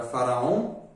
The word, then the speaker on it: Faraon: Um mantra bem conhecido, que é o mantra Faraon, que se pronuncia assim: Fa, Ra, Faraon de tipo faraó, mas em vez de falar O-M, OM, é O-N, OM, Faraon.